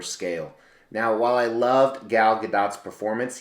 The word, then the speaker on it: Gal Gadot: now while i loved gal gadot's performance yes the t is pronounced i actually love the